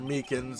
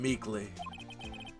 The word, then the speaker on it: Meekins: Poor guy, I keep getting his name wrong and calling him Meekly.